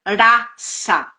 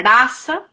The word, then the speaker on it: rasa: escrita com alfabeto Latino em sânscrito se pronuncia raça né o s ele